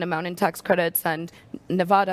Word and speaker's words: Nevada: in tax credits and Nevada I've learned to pronounce Nevada not Nevada Nevada as well is so